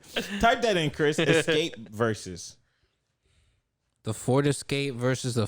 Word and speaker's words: Verzuz: Escape versus. The Ford Escape versus the Ford Edge. No, Escape is spelled off. XSCAPE. All right, hold on. And then versus is spelled VERZUZ.